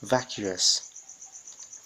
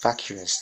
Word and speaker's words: vacuous: the Antonine is invigorates the next word is vacuous vacuous this is spelled as the a cos again we see